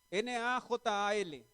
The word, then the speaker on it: najal: es una palabra hebrea que se escribe nahal si quieren anótenla nahal n a j a L najal y significa conducir con